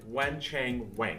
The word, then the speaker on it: Wen Chang Wang: Okay, Wen Chang Wang. I was calling him Wang in the last video. I was corrected that that's really not the best way to say his name.